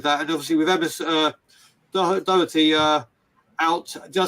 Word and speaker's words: Doherty: And obviously with Emerson Doherty out. Did I say that right, Matt? Doherty? No, pretty close. Pretty close. It's not Doherty. It's Doherty. Doherty.